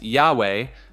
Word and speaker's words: Yahweh: Many biblical scholars today believe the name was originally pronounced Yahweh based on linguistic evidence and ancient transcriptions.